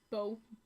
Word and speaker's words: bow: And the contract rolls up into his hand, and a little bow, not bowl, bow.